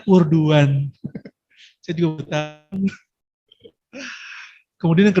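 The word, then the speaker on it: Erdoğan: Erdogan ya, bukan Erdogan. Nek cara wong Jawa Erdogan. Dogan. Tapi ternyata cara bacanya Erdogan.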